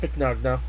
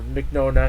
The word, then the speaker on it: Mignogna: He is the second voice actor, of course, the other one being Vic Mignogna, or Mignogna, however you want to pronounce him, a.k.a.